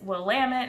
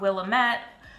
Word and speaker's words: Willamette: spelled couch pronounced cooch it's willamette not willamette uh there's a lot